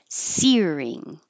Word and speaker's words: searing: seoa torrential torrential rains searing I know it looks like seing but think of it as sear as the verb by itself self sear and then you're adding the ing searing Cavalry Cavalry squeamish